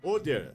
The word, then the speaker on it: Hoder: Então a pronúncia correta é Oder, né? Oder. É Oder.